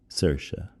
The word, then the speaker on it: Saoirse: It's with Stephen Colbert and Saoirse Ronan. And for those of you who don't know how to spell Saoirse, it's something like Saoirse. But in Gaelic, it's pronounced Saoirse.